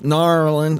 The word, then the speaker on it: New Orleans: So, in New Orleans or New Orleans, they are or New Orleans, Nar'lins, I almost said it right. I almost said it like a native.